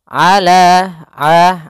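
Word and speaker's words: على: Kemudian ala ain jelaskan jangan sampai ala dengan hamzah tapi dengan ain.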